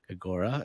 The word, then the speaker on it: Grigora: course you're you have a tool called uh gregora is that how you pronounce it okay gregora and uh where first of all where you